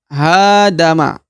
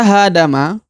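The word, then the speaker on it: هادم: Maka cara bacanya adalah hadama, hadama, hadama, hadama. Oke, jelas ya? Hadama. Ya, sedangkan yang lain da dan ma ini tidak dipanjangkan ya karena tanpa ada tanda 2 harokat.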